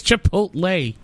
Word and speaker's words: Chipotle: Did I mispronounce that? Chakotay? Chakotay from Star Trek? Chipotle? It's Chipotle.